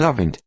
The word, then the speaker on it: Devante: in our school named Devante pronounced Avant mother insisted the accent